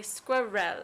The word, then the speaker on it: squirrel: I write down 3 letters, I tell them to pronounce it, and they say it perfect every time.